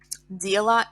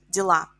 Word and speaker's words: дело: Дело, дела. А is stressed in plural. In singular, е is stressed. Дело, дела.